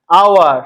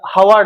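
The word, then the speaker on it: hour: আওয়ার, এটা হাওয়ার নয়, আওয়ার, তাহলে আ উচ্চারণ আসছে, আটা কি?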